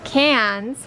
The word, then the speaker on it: Cairns: Cairns.